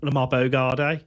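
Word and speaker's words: Lamare Bogarde: Lamar Lamar Bogard as he's announced at Villa Park, which is how you actually pronounce his name.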